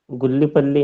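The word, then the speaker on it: Gullipalli: एल आई पी A double L आई क्या pronounce करेंगे भाई जी सर सही बोला है आपने गुल्ली पल्ली है ना गुल्ली पल्ली सोवर या राज वर्सस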